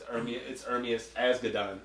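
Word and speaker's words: Ermias Asghedom: No, I couldn't pronounce it either. But as you heard, it's Ermias Asgadon.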